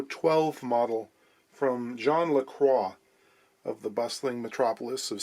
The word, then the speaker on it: LaCroix: 12 model from john lacroix of the bustling metropolis of st thomas ontario i suppose americans would probably try and pronounce it lacroix and you don't get away with that here i don't know